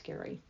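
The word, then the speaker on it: Gerry: and all things Cruise g e r r y pronounce Gary please visit our YouTube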